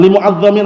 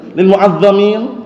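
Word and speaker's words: المعظمين: Limuin. Aman bacanya keliru tadi. Lil muadamin.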